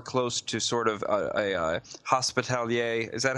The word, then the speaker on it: Hospitaller: Is the cleric meant to be more close to a priest or more close to sort of a hospitalier? Is that how you say it? Hospitaller. Hospitaller.